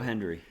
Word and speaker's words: Hendry: Is it not Joe Hendry? Yeah, but I could swear you said Henry there. Maybe I misheard. No, Joe Hendry.